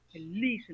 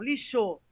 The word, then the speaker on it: lixo: palavra lixo né então quando eu digo lixo é o certo lixo não lixou então a sílaba sônica